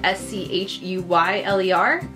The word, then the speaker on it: Schuyler: fact John Schuyler more it spelled Schuyler spelled SCH u yl ER we'll put it here and that's my husband's name so that's always fun it's pronounced Schuyler but yeah fun fact and I